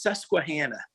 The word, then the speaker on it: Susquehanna: things how do you pronounce that region it's pronounced susquehanna the susquehanna valley yep kazoo type so two